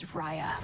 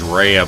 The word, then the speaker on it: Raya: find the last dragon my name is raya and i was always pronouncing this as rheya beforehand too but yeah i'm